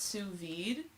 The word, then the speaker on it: sous vide: It's pronounced sous vide.